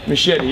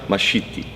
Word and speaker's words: Mascitti: Well, I mean, if you look at it from the point of view, the proper Italian way, it's not.